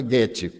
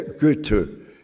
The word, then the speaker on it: Goethe: E existe Goethe, eu sabia pronunciar Goethe, antes eu pronunciava Goethe, mas eu tenho uma amiga suíça, e ela me disse, em alemão, não tem os sons agudos, é Goethe. E também não tem os acentos, toda a palavra é acentuada.